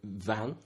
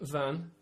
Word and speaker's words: vin: When you say vin for wine, it's spelled V-I-N. V-I-N, yeah. But do you say it more like a vehicle that you drive? Yeah, it sounds a bit more like van, but even the N is quite soft, so it's like vin.